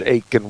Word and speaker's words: Aitken: a bit with James Aiken Wiley. And by the way, his middle name is spelled Aitken.